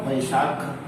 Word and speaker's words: वैशाख: V फॉर वैशाख, last का ए silent होता है अगर वो इंडियन सोलार ईयर है तो।